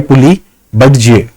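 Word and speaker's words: Puli Badze: उसके और ईस्ट में 3 नंबर लोकेशन है जिसको बोलेंगे पुली बेज जो भी है, बजे या बडजे, इस जो प्रोनाउंसिएशन इसका देखना, PULI पुली बडजे, इस नाम से इसका प्रोनाउंसिएशन है।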